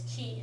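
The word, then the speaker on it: 気: um so that key it's pronounced chi in Chinese but it's key in Japanese and you know so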